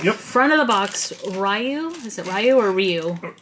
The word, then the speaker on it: Ryu: Front of the box, Ryu. Is it Ryu or Ryu? Or Ryu. Ryu. I never pronounce it right.